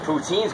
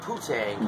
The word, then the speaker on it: poutine: Poutine's great though, isn't it? Mm-hmm. Yeah, I like that. I like that. Not poutine. No, poutine. You gotta say it right.